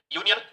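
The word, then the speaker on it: union: याद रखना है इसमें यूनियन यूनियन य का साउंड आ रहा है य के अंदर क्या जुड़ रहा है यहां य प्लस उ जुड़ रहा है इसमें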